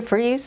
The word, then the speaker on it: Fries: My name is Fries, and the last name is spelled F-R-I-E-S, like fries.